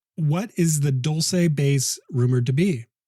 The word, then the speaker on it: Dulce: Is it Dulce? Yeah, they say Dulce is actually a mispronunciation.